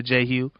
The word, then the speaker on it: JHOU: It's your boy J Hugh, JHOU, pronounced like Hugh, like the color.